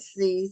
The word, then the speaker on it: Seay: don't have a sound you pronounced my name like the alphabet C oh okay C because it spell SE